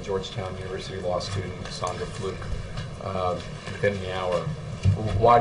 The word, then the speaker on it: Fluke: University law student uh Sandra uh fluk I think is actually how you pronounce it um because uh he